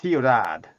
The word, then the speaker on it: Ciudad: So how do you pronounce that? Ciudad.